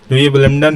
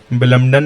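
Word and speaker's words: Wimbledon: विलिम्डन है क्या हो रहा है, चेंजिंग टाइम, यानी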